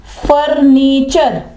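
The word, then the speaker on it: furniture: अगर टी के बाद यू आर ई आ जाए तो वहां पर वह चे की आवाज देगा। इसकी एग्जांपल है फर फनी चर फर्नीचर।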